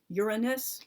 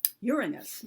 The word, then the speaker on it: Uranus: um shark I have I'm hopefully I'm going to pronounce this though a so-called correct way Uranus like they put the like stress on the first syllable of the the one